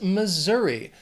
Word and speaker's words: Missouri: After Mississippi is Missouri. This state has 3 syllables and the stress is on that 2nd syllable. Missouri. That S is gonna have more of that Z sound, Missouri.